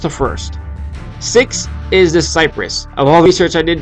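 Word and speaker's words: Kiparis: which i personally loved the cypress yep it's pronounced cyprus it's a russian gun and i researched all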